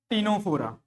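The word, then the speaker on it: Ctenophora: Then the third one which is टीनोफोरा, टीनोफोरा, C silent, okay. दोनों में क्या है, सी साइलेंट है।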